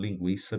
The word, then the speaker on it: linguiça: iria O tremzinho sobre o u caso de linguiça lembra então lingui o u é pronunciado we então o trem iria para indicar